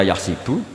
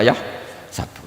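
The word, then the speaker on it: يَحْسَبُ: zaidun kahsabu zaidun k karena dalam qirah sab ada baca yahsibu qiraah kita baca yah sabu tapi guru-guru kita kalau ngajar fikih itu bacanya yahsibu tapi kalau baca Quran yahsabu ya kan Quran kita kan ayahsabu allqir Alaihi Ahad Bukan dibaca Ayah sibuk saya teruskan jadi syarat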